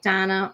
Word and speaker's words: Dana: is Daily Dose with Donna, only it's spelled Dana because she spells it the Israeli way.